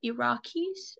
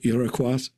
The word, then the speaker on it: Iroquois: For example, I was talking to a Native American person who is part of the Iraqis, No, you mean Iroquois Iroquois. or So sorry. Iroquois, as Americans say, Iroquois.